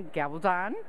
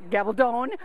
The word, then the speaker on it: Gabaldon: I'm here with Diana Gabaldon. Gabaldon. You know, I'm one of these years I'm going to say it right, but for years I said Gabaldon, so I totally messed it up.